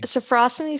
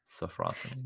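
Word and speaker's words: sophrosyne: Sofrosani? Sofrosany sounds right. Sofrosany. Sounds like how we pronounced it before.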